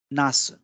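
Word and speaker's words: なす: नास, नास यानी बैंगन, इसका उच्चारण होगा नासु।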